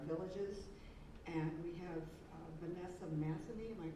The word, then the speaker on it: Matheny: And we have Vanessa Matheny, am I pronouncing that correctly, from Village Hall? Matheny. Okay, Matheny, who is in our village government and is